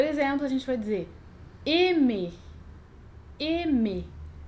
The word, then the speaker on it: aimer: Quando a gente tem a junção A-I, a gente não vai pronunciar AI. A mais I faz som de E ou E, mais abertinho. E, dependendo da palavra.